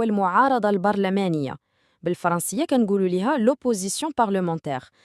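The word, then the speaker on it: l'opposition: البرلمانيه بالفرنسيه كنقولوا لها لوبوزيسيون سمعوا النطق مزيان لوي نعاودوها مره اخرى والثاني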